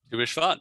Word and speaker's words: Tu B'Shvat: Help me with the pronunciation. Tu B'Shvat? Tu B'Shvat, yeah, good job.